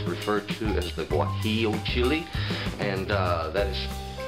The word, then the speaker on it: guajillo: It's referred to as the guajillo chili, and that is spelled G-U-A-J-I-L-L-O.